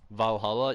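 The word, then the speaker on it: VA-11 Hall-A: Valhalla. Yeah. VA11 Hall A. That's how it's spelled.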